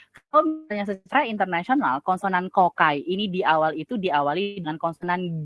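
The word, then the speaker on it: ก ไก่: Tapi kalau kita tulis romanisasi di Indonesia G, pasti kalian bacanya adalah gogai gitu. Padahal secara internasional bunyi pronounce-nya adalah ke. Makanya diterjemahkan, diromanisasikan di kita kokai, seperti itu.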